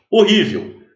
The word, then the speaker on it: horrível: Primeiro, o H. O que é esse H no início das palavras? Eles chamam de letra etimológica. Tá? Ele não é pronunciado, mas por conta do